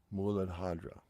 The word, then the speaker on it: mudra: issues now my Sanskrit is horrible but the pronunciation is madra for the root Shakra we're going to keep